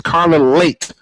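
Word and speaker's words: Leite: It's Carla Late as in being late for an appointment like I was nearly late tonight.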